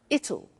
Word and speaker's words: it'll: tomorrow it'll be cold you notice how it will becomes it'll it'll strange pronunciation yes sir